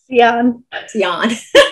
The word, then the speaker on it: Siahn: Siahn. I've been saying her name wrong for years, and so right.